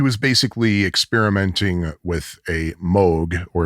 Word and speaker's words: Moog: He was basically experimenting with a Moog, or if you want to be ultra correct in the pronunciation, Moog synthesizer.